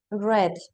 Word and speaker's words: read: You know red. Okay, we change the pronunciation.